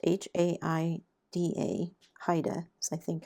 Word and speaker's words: Haida: There's a style of art called Haida or Hayida. I'm not sure how it's pronounced. H A I D A.